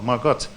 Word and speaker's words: Margot: annex and sister Lamarque we say Margo we use the French pronunciation but of course she was a German girl Margit and sister Margot is